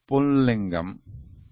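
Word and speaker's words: पुंलिङ्गम्: The masculine gender is called pullingam. So written here. So if you write in English, it can be written like this: pullingam. This ma is like I pronounced as anuswara here.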